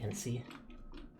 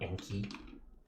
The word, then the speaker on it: NC: Hopefully I'm pronouncing that right and it's not Enki. Have I been mispronouncing it the whole time and you've always been Enki? Enki, please. No, you have it right, but friends like to say Enki to be silly.